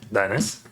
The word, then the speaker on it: Dennis: Dennis, I'm pronounce my name as it sounds. It comes from Dionis, Greek god wine.